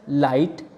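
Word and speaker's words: light: हम इसको इस तरह बोलेंगे हाई-फाई इसी तरह लाइट इसमें बीच-बीच में आया है इसमें जिसकी कोई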